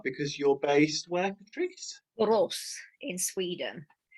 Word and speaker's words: Borås: Borås in Sweden. Sometimes the emphasis is on the first syllable, bor. It's quite small. There's not much. But Boros, yeah.